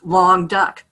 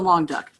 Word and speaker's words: Languedoc: I think long duck, but it's the Languedoc.